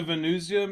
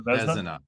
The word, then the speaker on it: Vezina: The Venusia maybe would be one. Is that how you say his name? The Vezina.